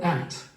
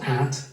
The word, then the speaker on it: at: Listen to the word at. Okay, so you'll see the words highlighted that are going to be pronounced different, which in fact is not at, but with a schwah at at University College London.